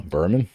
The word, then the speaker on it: Buhram: for that is uh berman is that correct yep rhymes with german there you go and